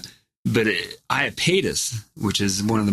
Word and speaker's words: Iapetus: How do you pronounce it again? Iapetus.